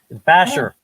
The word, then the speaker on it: Bashir: Basher. You pronounce it Basher.